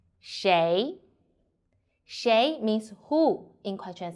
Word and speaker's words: 谁: The word of today is Shéi. In this video, I will teach you how to pronounce it, how to write it, and how to use it. First, let's read together. Shéi, Shuí, Shéi.